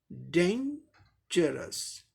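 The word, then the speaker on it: dangerous: अब ये 3 लेवल्स का वर्ड है, इसीलिए इस पे स्ट्रेस पहले सिलेबल पर दिखाया गया है, यानी पहले सिलेबल को जोर देकर बोलना है। जैसे डेंजरस, डेंजरस, डेंजरस, ज, डेंजरस, डेंजरस, ऐसे बोलना है।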